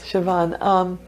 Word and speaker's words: Seabhean: hmm so the Siobhan yes I hope I'm pronouncing that right yes Siobhan this is a spirit that everybody can see